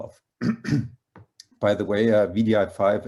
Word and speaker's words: wdi5: by the way uh vdi5 as in not wdi5 because we were so sick of saying w all the time so we declared wdi5